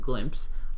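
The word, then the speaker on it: Glympse: really send them something so this product called glimpse a lot is an iPhone app Android windows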